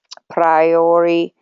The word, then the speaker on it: priori: And priori, is that how you say it?